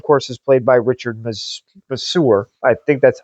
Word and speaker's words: Masur: This of course is played by Richard Masur. I think that's how you pronounce his name.